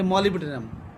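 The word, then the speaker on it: Molybdenum: হ্যাঁ, আমি ধরো তোমাকে বলা হবে যে মলিবডেনাম, এবার তোমাকে ওটা ইংলিশে MOLIBDENUM এরকম করে উচ্চারণ করে দিতে হবে।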